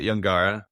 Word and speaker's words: Yangarra: So if anybody's looking for good McLaren Vale Australian wine, check out Yungara. They make Shiraz as well as Grenache. Yungara is spelled Yangarra.